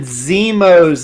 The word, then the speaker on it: Zemo: Yeah, Austin, I've never heard Baron Zemo's name pronounced like that either, but he likes to do weird pronunciations over here.